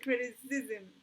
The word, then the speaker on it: criticism: Like criticism, right? Criticism. El ism viene a ser un poquito más acentuado, okay?